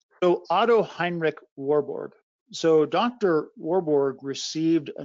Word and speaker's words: Warburg: If I'm pronouncing his name right, Warborg. So Otto Heinrich Warburg.